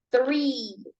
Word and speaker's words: three: pronunciar la t y la H y la pronunciación de este número es three three three Okay three la t y la H